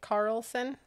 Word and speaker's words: Carlson: it is angela and we always say your last name wrong no way carlson cart did we say that right carlson yes yes yay okay let's